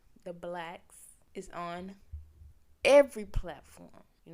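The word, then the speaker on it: Blax: is every everywhere everywhere but it's spelled b l a x black b l a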